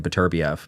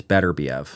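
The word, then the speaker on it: Beterbiev: for the longest time i' I've been saying BBV but I heard him say it and he says it's better Bev so take his word for it and bival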